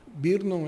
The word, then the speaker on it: Brno: Nós temos depois em Brno é BRNO, então é difícil pronunciar, na República Tcheca, uma casa modernista que